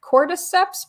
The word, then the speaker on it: cordyceps: So the infection is caused by is it cordyceps brain infection? Sarah, does that sound right? Yes. Is that the pronunciation?